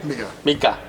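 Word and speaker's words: Mriga: Miriga? What's it called? Miga. Yeah. How do I spell it?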